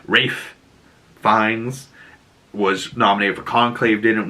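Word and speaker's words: Ralph Fiennes: there was also like Ralph fines Rafe fines for the people that want proper pronunciation Rafe fines was nominated for conclave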